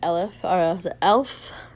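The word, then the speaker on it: Aleph: The um organization had changed its name from um um Shenrio to Elef. It sounds like elf but um they had changed it.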